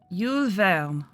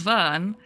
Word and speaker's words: Verne: then which I think I'm saying correctly now film Veil which the captions don't pick up at all um but I bet if I say Jules Verne yeah there you go so if I say it wrong the captions pick it up correctly if I say it